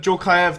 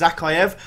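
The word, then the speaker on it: Dzagoev: A few people told me that's not how you pronounce his name, and it's Zakaev. I'm sure I remember during, like, Euros or something like that, there was a big deal out of the fact you pronounce it Djorkaev.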